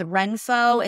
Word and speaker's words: Renpho: One is Renpho. It's spelled RENPHO.